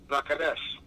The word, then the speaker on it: Vaccares: his Italian name was given an EST ending and pronounced Vaccares.